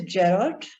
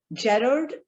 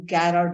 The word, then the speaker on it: Gerard: One is Gerard. Gerard is the English pronunciation, but in our Indian background, some people pronounce it as Garrard also. But Gerard is actually the pronunciation.